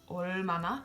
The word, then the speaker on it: 얼마나: And my last example is 얼마나. So again, it's between a vowel and a consonant, so it's 얼마나. It's an L sound.